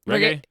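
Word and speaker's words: Regé-Jean: Reggae.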